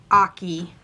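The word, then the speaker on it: Ache: It's a free pattern on Susan Aki's website, and it's spelled A-C-H-E and pronounced Aki. And this is what I have done so far. Rhymes with hockey. Yeah, hockey, Aki.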